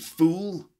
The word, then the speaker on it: fool: an idiot you stupid fool for example okay so ful short sound and fool the long sound for example the room